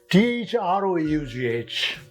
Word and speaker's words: through: Third one, T-H-R-O-U-G-H, through, oo sound comes.